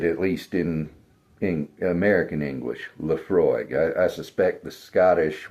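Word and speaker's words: Laphroaig: And that is a Scotch whiskey, Leafroy Tenure. And that's how you pronounce it, at least in American English. Leafroy.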